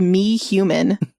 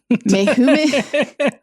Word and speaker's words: Mehuman: him, oh my God, it's spelled me-human. Mehuman, I'm not kidding.